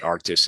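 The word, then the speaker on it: Arctiq: so uh you see all our name changes is now arctis uh although it's spelled archus um but arctis is is the way we say it and uh that's how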